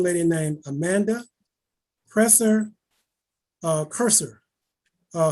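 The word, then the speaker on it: Kreuser: named amanda presser uh cursor uh her last name is spelled k-r-e-u-s-e-r and as amanda professor curser incorporated she's incorporated himself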